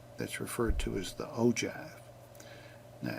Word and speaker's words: ogive: Uh o givve is pronounced ojive.